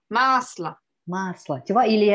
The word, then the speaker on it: масло: en gras, mais c'est masla. On le chante légèrement. Masla. Masla. Beurre. C'est le beurre. Masla. Donc bon, ça c'est un O qui se prononce A.